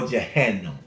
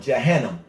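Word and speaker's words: Jahannam: what the Holy Quran says about hell or Johannam. Spell with it. J A H A N A M. Johannam.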